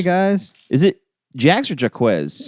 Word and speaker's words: Jacques: Jax hey guys is it Jax or jaquez it's JX okay pronounced Jax yeah it's it's the a French name that